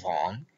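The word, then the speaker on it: vingt: Y prestad atención a la pronunciación de la palabra von, que como decimos, para pronunciar la V hay que apoyar las paletas en el labio inferior.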